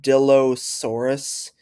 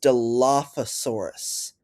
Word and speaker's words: Dilophosaurus: He said dilosaurus. It's pronounced Dilophosaurus.